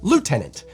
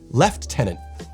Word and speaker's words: lieutenant: is just so wild in America we would say Lieutenant whereas over here they say left tenant there's no excuse for